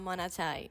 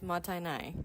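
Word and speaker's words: もったいない: It is not monotai. It is matai.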